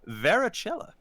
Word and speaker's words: varicella: disease, also known as varicella. Varicella, it's what is chickenpox? Oh. Well, in Italy, it would be pronounced Varicella.